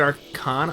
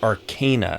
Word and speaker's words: Arcana: what plague KN whoa I said Arana okay yeah and it's and it's Arcana apparently because it's Arcane magic oh well thank you